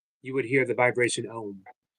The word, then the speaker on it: Om: If everything was completely silent, you would hear the vibration Om, actually pronounced Oh, AUM.